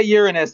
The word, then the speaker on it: Uranus: And when you say Uranus, that is the correct pronunciation? Yes.